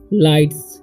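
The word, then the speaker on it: lights: Okay, of लाइट्स। ठीक है, तो यहाँ पर LIGH, यहाँ पर GH जो है साइलेंट है। ठीक है, तो लाइट्स पढ़ेंगे हम।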